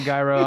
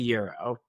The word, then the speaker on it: gyro: He calls it a gyro unironically. I mean, is that the correct pronunciation? It's gyro. no, It's not. It's I was not. about to say, is it actually euro? It is Euro, yeah.